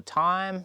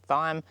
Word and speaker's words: thyme: talk about my native th or thyme depending on where you are from the world. I'm pretty sure it's the Americans who pronounce it wrongly. Um as thyme.